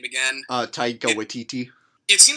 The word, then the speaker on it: Taika Waititi: of thing that like what's how do you pronounce the director's name again Taika Waititi if see like watch et had this idea